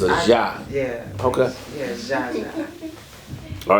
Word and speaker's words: Zsa Zsa: Now, am I pronouncing it right? I say Zaza. You say Jaja? Yes, Jaja.